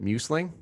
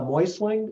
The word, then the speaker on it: Meussling: butcher your last name is it muslin uh it's uh moistling it's moistly so you didn't butcher it you're like most people that that's how you would tend to it but but phonetically it would be like m-o-y-s-l-i-n-g okay so what is